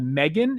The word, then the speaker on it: M3GAN: I think it's kind of a kid's movie on Netflix called Megan. And it's the E is spelled with a 3. So M3GAN. And it's about this little girl, if I'm remembering the name right.